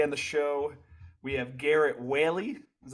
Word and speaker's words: Garrett Whaley: Shafer and today on the show we have Garrett Whaley is how you pronounce it I didn't check before we started